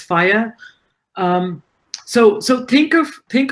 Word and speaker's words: FHIR: web based applications is standard call fhir pronounced as fire so so think of